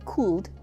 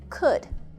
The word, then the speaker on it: could: when you say could the l is silent we do not say cooled we say could when we use could